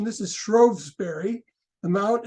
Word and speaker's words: Shrewsbury: it's uh in Shrewsbury again the funny British pronunciation this is Shrewsbury the mount it's still there Darwin was born on on uh February 9th uh February 12 1809.